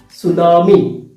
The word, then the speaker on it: tsunami: See, tsunami, but the letter T is silent.